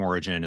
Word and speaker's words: Ori-gen: And I did pick up the name Ori-gen is not spelled like the word origin. It's like GEN, like generation.